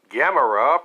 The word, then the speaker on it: Gamera: Gamera, pronounced like camera but spelled differently, is a 1965 Japanese monster flick originally shown on MST3K's Season K.